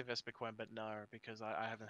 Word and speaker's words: Vespiquen: Like, I was going to say Vespiquen, but no, because I haven't heard anyone mispronounce it. But, I used to call it Vespiqueen, but I didn't realize it was, like, down one E.